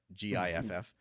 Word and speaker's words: giff: GIFF. Yes, not GIF. It is. Yep. Not GIF.